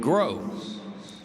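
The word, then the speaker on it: Gros: And that's going to bring in Sport Grow. spelled G R O S pronounced G R O W.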